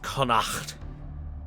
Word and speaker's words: Connacht: By the way, chat, I know it's supposed to be pronounced Connacht, but, you know, I'm not Gaelic enough to on command.